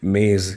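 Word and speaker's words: मेज़: ये मेज है ना आप इसे मेज नहीं बोलेंगे आप इसे बोलेंगे मेज क्योंकि जे के नीचे लगा है नुक्ता ठीक है अब देखिए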